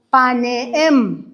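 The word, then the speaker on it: פָּנִים: En hebreo significa paneem. Así se pronuncia. Paneem.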